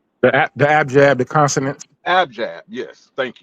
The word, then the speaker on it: abjad: Abijah? The abjad, the consonants.